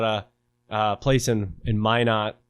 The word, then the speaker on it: Minot: uh place in in minot which isn't far far from my not i say my net i guess because locals say it differently but i bought a